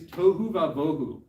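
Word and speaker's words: תהו ובהו: In the ancient Hebrew, this is literally the phrase tohu vavohu. It rhymes.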